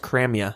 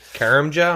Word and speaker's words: Karamja: I think it's pronounced Cramia. I heard that really." Anyway, yeah, the J is silent. Anyways, Karamja, I'm just call Let's